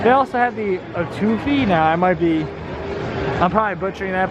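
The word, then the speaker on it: étouffée: Etouffee, there we go. Someone nice enough on the line was able to tell me etouffee is how you pronounce it.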